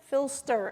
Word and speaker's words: PHLster: it because there's it's it's a p h l so it's like the airport code for Philadelphia filster s-t-e-r p-h-l-s-t-e-r and you